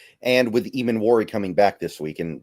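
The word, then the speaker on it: Emmanwori: And with Emanwari coming back this week, and somebody in the chat told me that it's pronounced Emanwari.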